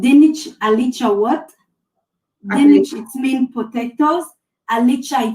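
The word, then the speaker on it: dinich alicha wot: I couldn't pronounce it. Okay, I will say it. So it's called dinich alicha what?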